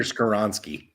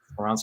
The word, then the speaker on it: Skoronski: Peter Skoronski. Skoronski to the Titans, Jahmyr Gibbs to the Lions,